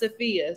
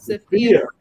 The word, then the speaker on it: Safiya: So it's actually pronounced Safiya. So Safiya.